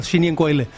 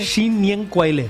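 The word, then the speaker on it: 新年快乐: Shin Nien Kuai Le. Sí, ¿cómo se dice? Shin Nien Kuai Le.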